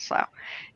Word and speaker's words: Slough: be from called Slough it looks like Slough I think it's spelled like that but it's called Slough and I said what's